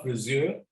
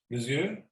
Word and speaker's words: Friseur: So you have to be careful with the pronunciation of friseur. It's almost like an Ö, O umlaut, friseur or friseurin, but frisur, U, is the haircut.